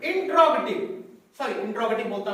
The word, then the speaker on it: interrogative: तीसरा जो हमारा प्रोनाउन का टाइप है वो है इंट्रोगेटिव प्रोनाउन।